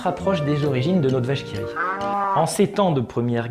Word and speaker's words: La vache qui rit: Vous remarquerez en bas à gauche le petit intitulé qui se prononce vache qui rit.